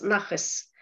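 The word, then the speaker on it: נחת: даже не выдышь, а в ашкенадской традиции буква тав, которая стоит на конце, произносится как с, звук с, нахэс.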